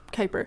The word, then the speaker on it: Kuiper: How do you pronounce this word? Kuiper. Kuiper? Is it? That's right. It's Kuiper.